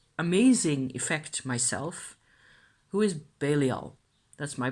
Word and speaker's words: Belial: communing with to amazing effect myself, who is Belial. That's my pronunciation.